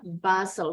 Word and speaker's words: bustle: Bacanya bustle.